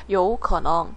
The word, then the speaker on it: 有可能: 자, 단어 첫 번째 有可能有可能 삼성이 두 개니까 앞에 있는 건 이성으로 발음을 해야 되죠. 有可能 뜻은요, 가능성이 있다예요.